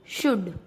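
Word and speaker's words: should: डी से पहले एल वुड, डी से पहले एल शुड।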